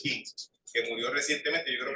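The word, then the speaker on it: Küng: Escribe U, pero es Hans King, que murió recientemente, yo creo que el año pasado murió él.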